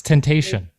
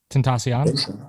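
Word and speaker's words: Tentación: what i'm reading it's temptation yeah he says he says it in like songs that's the only reason i notice it what's up alexandra that's how it's supposed to be pronounced tentacion i don't know he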